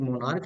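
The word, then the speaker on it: monarch: तो नाउन का जब लास्ट लेटर सी एच हो उसका उच्चारण क्या होता है? क। क्या होता है? क उच्चारण होता है सिर्फ तो उसका एस जोड़ के प्लुरल बनता है।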